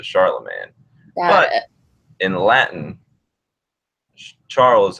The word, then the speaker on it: Charlemagne: But in English, it kind of turned into Charlemagne.